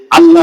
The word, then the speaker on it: আল্লাহ: আল্লাহর নাম উচ্চারণ করবো, আল্লাহ না, আল্লাহ।